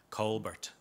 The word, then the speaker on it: Colbert: Well, people in Limerick will be given out to me for saying Colbert. They pronounce it Colbert.